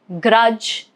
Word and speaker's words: grudge: Rule is D is silent before N or G.